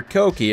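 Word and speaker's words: kouki: the later angrier s14 kooky or koki if you demand perfect pronunciation which we will not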